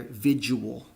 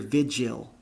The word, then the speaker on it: vigil: you when someone dies you don't go to their visual you go to their vigil you know v-i-g-i-l the way it's spelled you know there's no u v i g i l vigil how Vigilant of you